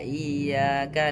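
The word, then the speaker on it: إياك: Karena sukar terjadi menjadi iya bukan iya terjadi i seharusnya kita membaca dengan tasdid tasdid pada huruf ya harus ditekan atau naan harus ditekan.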